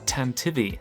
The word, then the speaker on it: Tantive IV: Yeah, apparently you pronounce it Tantivy, like this archaic word for galloping.